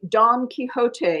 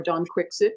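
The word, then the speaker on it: Don Quixote: Max beerbom as a Don kot or Don quickit you choose your own pronunciation uh figure who has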